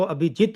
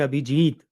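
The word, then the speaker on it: अभिजित: अब सही-सही उच्चारण तो अभिजीत होता है, भी और जी दोनों छोटे, लेकिन व्यावहारिक रूप में उसका ये स्वरूप स्वीकृत है अभिजीत।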